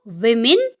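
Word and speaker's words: women: ध्यान दें डब्ल्यू ओ एम इ एन में भले ही डब्ल्यू ओ लिखा हो लेकिन इसका उच्चारण वी होता है ना कि व।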